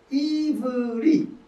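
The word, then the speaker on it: עברי: 구약과 신약 성경에 275번 나오는데 이불이 우리는 여기 희라고 하지만은 사실 유대인들의 발음을 하면 이요 이 이 이브리. 이브리.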